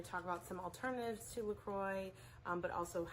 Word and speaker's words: LaCroix: Lately LaCroix rhymes with enjoy, has been in the news lately, something about like a lawsuit.